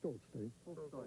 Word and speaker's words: Tolstoy: How do you say Tolstoy?